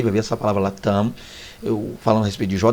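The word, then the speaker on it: תם: Há quem pronuncie tam, como se fosse aquele avião, né? Aquela empresa de avião tam, mas a pronúncia aí é tam, tá?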